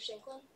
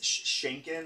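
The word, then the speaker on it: Sheinkin: yes that is correct be careful on the pronunciations of the author's names okay how do you pronounce it's shanken I believe I just heard I heard shank yeah you just snuck an L in there it's okay uh and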